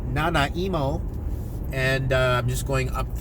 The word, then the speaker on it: Nanaimo: beautiful place in a little town called Nanaimo or as my friends like to pronounce it not emo and I'm just going